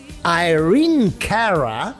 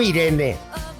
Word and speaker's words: Irene Cara: El siguiente temón de hoy, también de 1983, Irene Cara, porque así es como se pronuncia correctamente en inglés, no Irene.